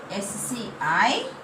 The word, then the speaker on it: scissors: S-C-I-S-S-O-R-S. Now tell me here what is the silent letter? Scissors. Yes? See here. S-C-I-C. Scissors. We can read S-I-C also. Scissors. Yes? Now here what is the silent letter? C.